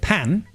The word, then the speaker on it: pain: They pronounce it pan, but it's spelled pain.